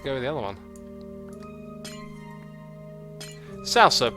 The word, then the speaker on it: salsa: Salsa, properly pronounced salsa. A little bit different from how I'm saying it.